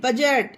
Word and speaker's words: budget: उसी तरह से BUDGET, बजट, इसे बजट पढ़ा जाएगा, बजट।